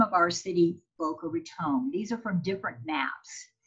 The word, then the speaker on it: Boca Raton: little bit about how boca raton got her name so first of all in 1982 our city council actually passed a resolution dictating the correct pronunciation which is with a long o so please give it